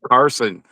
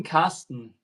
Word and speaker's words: Carsten: dyslexia looks at that and I see Carson. No, I'm Carsten in German.